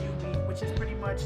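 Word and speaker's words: jubeat: And UB, which is it's spelled J-U-B-I, J-U-B, but it's pronounced UB, which is pretty much like you press squares.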